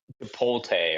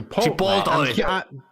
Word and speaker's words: Chipotle: Or sorry, Ralph, Chipolte or whatever you call it. Chipotle.